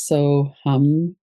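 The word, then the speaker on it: Soham: Of course, the mantra that is a universal mantra is so hum and it's uh the sound of the breath is sometimes described as and as you're inhaling the sound is so you exhale it's hum. So it's spelled so s o h a m but it's pronounced hum.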